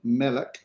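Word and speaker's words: מֶלֶךְ: Melik. We'll talk about this word a little bit later called a seglet noun, but for now we put our accent on the front.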